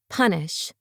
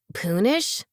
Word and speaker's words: punish: He finger-spelled, punish. The 3 imitated Oscar. Moss pronounced it, Poonish? Oscar shook his head and signed, Sounds like run.